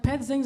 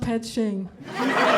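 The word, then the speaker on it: Ped Xing: It was like 3 months in, I was like, Ped Zings are everywhere. And then one day I was like, holy shit, it's not Ped Zing. It's pronounced Ped Shing.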